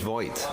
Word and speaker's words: Voigt: Because now that he's finished, we were all decided that we're going to pronounce his name correctly. The entente cordiale of let's just call him Voigt and be done with it.